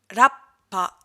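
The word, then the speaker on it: らっぱ: Et la trompette, Rappa.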